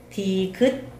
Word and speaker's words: 디귿: 기역, 기역, 니은, 니은, 다음에 디귿, 디귿, 리을, 리을, 미음, 미음, 비읍, 비읍, 시옷, 시옷, 이응, 이응, 지읒, 지읒, 시읒, 시읒.